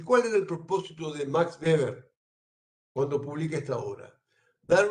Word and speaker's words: Max Weber: Weber, o en alemán Max Weber. En alemán la W se pronuncia como V, Max Weber.